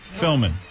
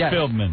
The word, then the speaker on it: Philbin: You're still saying the name wrong. Say it again. Let me hear it. Regis Philbin. Philman. I don't know. Philbin, right? Philbin, something like that. Regis Philbin.